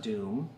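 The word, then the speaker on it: dum: is called the doom it's d-u-m pronounced doom d-o-o-m my fingers are going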